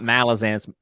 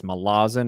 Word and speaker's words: Malazan: They actually mispronounce it, because it's not Malazan. Apparently, it's Malazan.